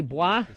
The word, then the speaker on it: Bois: Bois. Sell cars. Bois, yes. Bois, how do you spell that? I was guessing B-W-A. It's B-O-I-S. It's French-Canadian. Oh, French-Canadian.